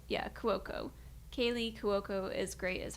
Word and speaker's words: Cuoco: Cuoco? Yeah, Cuoco.